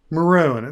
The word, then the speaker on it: maroon: Um maroon. This is a peculiarity of Australian pronunciation.